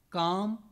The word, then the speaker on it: calm: gold L was pronounced calm should could half L is silent whereas in cold or gold L is pronounced so the logic behind